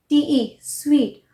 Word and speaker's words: suite: SU combination is also pronounced as वो, यहाँ पर यू वो प्रोनाउंस होता है, जैसे स्वीट, SUITE, स्वीट, परसुएट, वो साउंड आ रहा है।